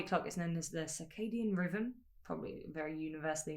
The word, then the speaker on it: circadian: I definitely pronounced that wrong. I'm pretty sure I used to say like cardigan. I might be. No. I think I said that wrong. Circadian. Because I didn't even say enough syllables.